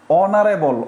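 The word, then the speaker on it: honourable: অনারি magistrate তার মানে কি বলেন তো এন অনারেবল অনারেবল দেখেন আপনার এটা কাইটা দেন তারপর অনারেবল পড়বেন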